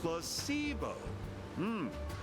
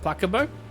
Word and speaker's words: placebo: Placebo. The stress is on the middle syllable. So it's not placebo?